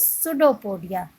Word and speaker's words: pseudopodia: It pushes out one or more finger-like projections called pseudopodia. Pseudopodia is start from the spelling of pseudopodia start from P, but P is silent. So this word is pseudopodia or false feet for movement and capture of food.